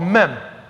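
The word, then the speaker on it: מם: It's called mem. That's how they would pronounce it.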